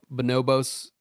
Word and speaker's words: Bonobos: All right, so fifth, we have Bonobos.